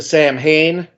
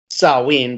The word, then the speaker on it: Samhain: from the misfits to sam hayne which is you know salween but you know he pronounces champagne like a goofball so we'll just go with that samhain was uh his follow-up